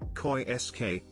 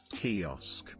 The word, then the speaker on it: kiosk: way around for me ibf always pronounced it koi sk instead of kiosk kiosk i told him and he looked